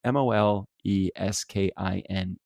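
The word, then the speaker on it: Moleskine: I'm pronouncing that correctly because it's mo l e s ki n e so I think it's moleskin moleskin Mostyn mo scheme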